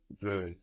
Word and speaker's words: veulent: So we have an L there, no? An L. We hear an L on the end there. We have V-E-U-L-E-N-T. The E-N-T on the end of verbs isn't pronounced, no? But it does make us hear that L.